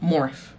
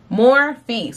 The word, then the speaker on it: Morphe: the wrong way and there they go right there more face so that is how it is pronounced i needed me some